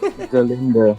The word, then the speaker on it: Galinda: I thought you pronounce it Galinda with a G. That's right. It's Galinda with a G. Galinda.